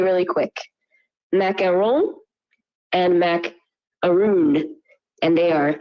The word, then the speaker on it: macaron: Yeah, I think in America we have macaroons, and we'll pronounce like the French one macaron with the N, but it's like for French, it's O-N is like on.